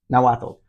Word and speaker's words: Nahuatl: Yeah, Nahuatl.